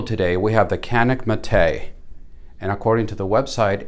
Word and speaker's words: Mete: on the table today we have the canik mate and according to the website it is pronounced mate and this is an evolution of the tp9